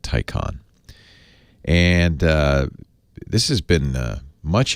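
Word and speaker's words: Taycan: until September Porsches first the Tyco on ta Y CA n they Porsche wants you to pronounce it Tyco on and this has been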